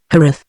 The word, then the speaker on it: Jerez: He pronounced the name in the Spanish manner, Jerez, as a slight additional precaution against being too readily understood, preferably the elderly and fuscous variety.